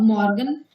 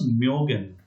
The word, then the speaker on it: mögen: Actually, it was not Morgan, it was Myogen that I just wrote. So, Myogen, right? In Morgan, it is simple Morgan, no umlaut, right?